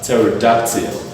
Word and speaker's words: pterodactyl: This word is pronounced as pterodactyl.